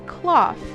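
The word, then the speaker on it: Klawf: It's Cloth.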